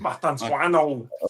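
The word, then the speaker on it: Mastantuono: And then they got that Argentinian lad, I struggle to say his name, like Mastantino or something. Mastantuano. Oh yeah, the Modelo. Mastantuano. The Modelo's just come out.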